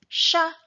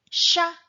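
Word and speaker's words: siya: it with s-y-a and this one is pronounced as Shah Shah this is the version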